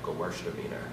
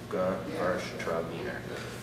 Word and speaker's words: Gewürztraminer: Say it one more time, Gewürztraminer. Really take it slow and pronounce it that way. So it's Gewürztraminer.